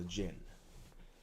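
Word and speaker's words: jinn: a genie that is the um original uh pronunciation of a genie is a Jin had one of them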